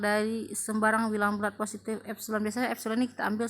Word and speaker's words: epsilon: Jika untuk setiap bilangan positif epsilon ya, ini E dibacanya epsilon, untuk setiap bilangan epsilon